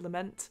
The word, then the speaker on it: Lament: Last night we finished, still coming out on the podcast version, but we've been doing the House of Lament, or Lamont, as I've been pronouncing it completely incorrectly, from Van Richten's Guide